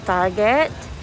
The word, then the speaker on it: Target: Our next stop is on this place called Target, but my husband pronounced it as Tarjay.